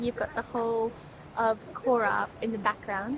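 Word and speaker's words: Chora: got the whole of Kora in the background k K so it's c h o r aora I think the C is silent and the H is like you've got popcorn in your throat oh they Ben nailing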